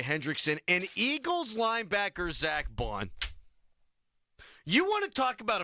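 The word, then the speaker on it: Baun: from where New Orleans Braun I thought it was Bon I think it's Bon I bet yeah Google it it's Bon I thought it was B how do you spell it b a u n there's no R I lost crap they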